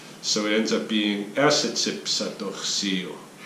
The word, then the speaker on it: Niitsi'powahsin: That O at the end is kind of, it's spelled in the orthography, the current kind of a standard orthography, it's spelled like a W-A. But you don't hear it pronounced so much like wa, right? So Niitsi'powahsin.